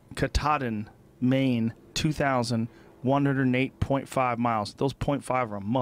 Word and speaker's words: Katahdin: Katahdin. Katahdin, Maine, 2,108.5 miles.